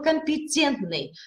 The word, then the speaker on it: компетентный: уже и логопедии дальше слова компетентный компетенция т-только мягко мы с вами должны произносить это слово частот над нашим с